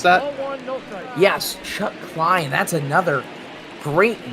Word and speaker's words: Chuck Klein: Chuck Klein, I believe, is how you're going to pronounce that. Yes, Chuck Klein.